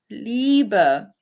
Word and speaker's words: Liebe: And then you have the IE pronounced like the English EE. Liebe, Liebe, Liebe, which means love.